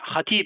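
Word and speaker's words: Hatip: Imam Hatib. Imam Khatib is pronounced as Hatib in Turkish, and it means preacher.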